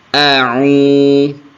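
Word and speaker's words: أعوذ: A'u, jangan sampai karena saking terburu-burunya jadi au itu jadi hamzah semua, itu salah. Atau a'u jadi ain semua. Ya, jadi yang tepat adalah a'u.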